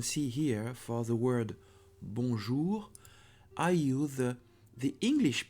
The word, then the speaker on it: bonjour: are English American am people you will read bonjour bonjour with the English pronunciation it's not the correct way of pronouncing it this word because it's bonjour I say with the English accent bonjour but it's not a problem because people will